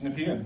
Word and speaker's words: Nepean: Is it Nepean? You pronounce it Nepean? It's Nepean. Is it really? It is Nepean.